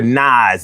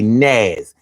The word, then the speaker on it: Nas: So instead of the rapper Nas, it'll say Naz and it'll do that through the entire video.